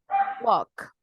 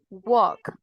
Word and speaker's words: walk: Walk. Walk. Sin la L, chicos.